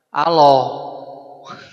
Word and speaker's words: Allah: A L A H dibacanya Allah.